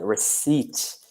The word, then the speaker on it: receipt: good word there Shawn receipts well it's because the pronunciation is a bit funny because we we have a silent P so receipt let's eat which I know here